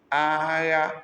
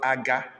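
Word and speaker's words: agha: Aya, this is not aga or aha, it's aya, war.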